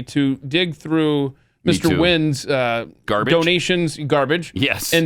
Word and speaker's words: Nguyen: If you wouldn't have known how to pronounce Nguyen as Wynn, right, you would have been just a pathetic bigot, racist, hate monger.